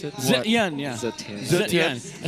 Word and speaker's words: Zetian: Is that how you properly pronounce it? Zetian, yeah.